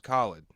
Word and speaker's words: Khalid: pronounced Khalid but But he he released a record called Free Spirit in 2020 that was just phenomenal.